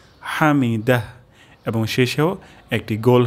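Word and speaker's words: حمده: যেতে পারে হামিদা তাহলে এখানে আমরা হা উচ্চারণ করব গলার মাঝখান থেকে হামিদাহ হামিদাহ এবং শেষেও একটি গোল হা উচ্চারণ হবে হামিদাহ সামি আল্লাহু লিমান হামিদা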